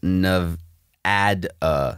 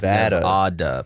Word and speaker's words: Nevada: Apparently, the only acceptable pronunciation of the state is Nevada, not Nevada.